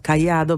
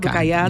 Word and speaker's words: Caiado: El tercer candidato, que es Ronaldo Caiado, no Ronaldo Caiado, Brian. No, Ronaldo, decilo, ¿cómo se dice? Ronaldo Caiado. Ronaldinho, ¿no? Ronaldo Caiado.